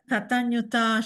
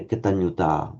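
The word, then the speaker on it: kataññutā: within their own tradition, but be aware when you hear a Sri Lankan pronouncing this Katanyuta, say, hang on, that sounds like a short ah to me. No, if they'd really been trying to do a short ah, they would have said Katanyuta, the sound, but Katanyuta is okay.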